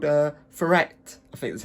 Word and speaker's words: Taweret: just like oh, that hippo, it's actually called Taweret. I think that's how you pronounce it.